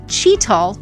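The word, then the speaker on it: chital: friends the Red Deer the Axis or the cheetahl special thanks to Liam Studios for correcting my pronunciation on that and then of course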